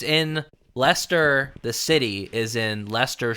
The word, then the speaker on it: Leicester: um it looks like leester I guess it's l e i c s t r oh Lister yeah but it's pronounced Lester about on that much